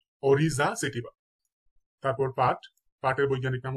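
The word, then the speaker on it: Oryza sativa: কয়েকটি জীবের বৈজ্ঞানিক নাম দেখে নেই এবং তাদের উচ্চারণ গুলো দেখে নেব ইনশাল্লাহ ধানের বৈজ্ঞানিক নাম হচ্ছে অরিজা সেটিবা অরিজা সেটিবা তারপর পাট পাটের বৈজ্ঞানিক নাম হচ্ছে কর্কোরাস কর্কোরাস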